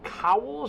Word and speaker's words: Cowles: by the name of is it cowell's or cow less how do you pronounce towels i believe okay so yes i